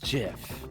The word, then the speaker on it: GIF: Or to quote Shadow, it's pronounced GIF. The creator said so.